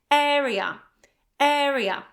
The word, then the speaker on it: area: So as you can see, the accent is actually on the first syllable. Area, area, okay?